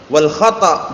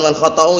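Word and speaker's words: والخطأ: Kita lihat kalamnya Imam Sa'di rahmatullahi alaih, wal khata' bukan wal khata'u ya bacanya. Walaupun antum baca wal khata'u bisa, cuman biar tepat. Biar nanti lantunannya tepat.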